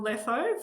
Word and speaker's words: Letho: Uh, if you're looking for me on LinkedIn, my surname rhymes with metho but with an L.